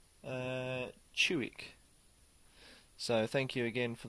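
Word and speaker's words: Ciuc: from the romania actually told me how to pronounce the one that i called kuik so i haven't seen that it's a fantastic romanian beer so go and check it out but it's actually pronounced uh chuwick so thank you again for the pronunciation tips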